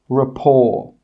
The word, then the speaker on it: rapport: The letter T is not pronounced in these words. Castle, Christmas, gourmet, listen, rapport. In all of these words, we're not pronouncing that T sound. It is silent.